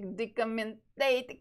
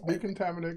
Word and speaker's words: Decontaminate: and I will check decommentate colors. I don't know why I always mispronounce this. Yeah, you got it pretty close. Decontaminate colors.